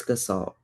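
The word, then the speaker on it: Gestalt: say G like the G first verse well pronounce the G in a different way but um it's gassalt.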